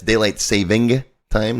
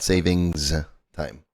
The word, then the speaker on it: daylight saving time: And it's daylight saving time, not savings time. I know I catch myself saying it wrong from time to time as well.